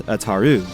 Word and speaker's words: Ataru: common use of Ataru I couldn't find anything to support the sound of you taking on the vowel sound of O in any context Japanese or otherwise so for me the pronunciation remains Ataru form v lightsaber combat is